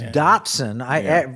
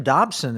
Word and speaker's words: Dotson: Yeah, it's Dotson. When I first heard this, I said, Jim Dobson is focused on the family. What do you mean, Jim Dobson?